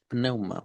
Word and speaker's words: pneuma: neuma en griego eh si están apuntando la palabra neuma es con una p al principio pneuma Por así decirlo eh